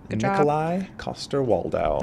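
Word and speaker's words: Coster-Waldau: actor who plays jamie lannister how do you pronounce his name properly koster waldow everybody i studied it because he's my favorite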